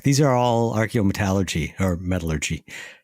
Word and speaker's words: metallurgy: These are all archaeometallurgy or metallurgy. Did I just mispronunciate that? Metallurgy. Yes. You put the emphasis on the wrong syllable.